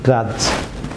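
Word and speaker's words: grudge: যেমন গ্রাজ viewers, D silent থাকবে গ্রাজ।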